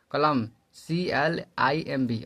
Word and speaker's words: climb: जब किसी थ्योरी पे चलते हैं आप, जब किसी शब्द में बी के बाद एम हो तो बी साइलेंट हो जाता है। जैसे बी बाद एम आता है तो बी साइलेंट हो जाता है। जैसे डम DUMB, कलम CLIMB, और थम बने अंगूठा THUMB, और कम बने कंधा CUMB।